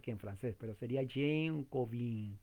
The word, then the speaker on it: Jean Calvin: gran reformador francés ginebrino, Jean Calvin. Usted dirá, ¿quién es? Yo no lo conozco a él. Bueno, estoy pronunciándolo en lo que puedo en francés. Juan Calvino, Jean Calvin, creo que así se pronuncia.